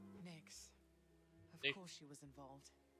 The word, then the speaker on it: Nyx: It's Nyx spelled with an X, by the way. Nyx.